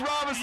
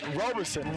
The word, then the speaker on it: Roberson: Gage Robinson. Yeah, Mr. Roberson. Robson, we should say it right. Put some respect on my back, Mr. Robinson. Roberson.